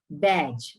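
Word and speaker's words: badge: किया हुआ है as adjective बैज again D silent तो डी एंडलाइन नेक्स्ट देखिए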